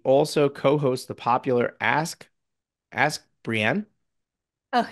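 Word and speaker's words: Brien: Not spelled wrong, pronounced Brian, and made me stumble on my words, which my team should have picked up on.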